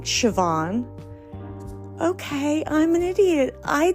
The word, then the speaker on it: Siobhan: on her face she said are you saying Siobhan okay I'm an idiot I did not know that SI o b h a n is pronounced Siobhan and joke on my co-workers they